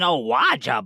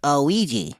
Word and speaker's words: Ouija: Oh, it's an Awaja board. See? I believe it's pronounced Ouija. Ha! Maybe in your cute little world, but here in America, we call it an Awaja board.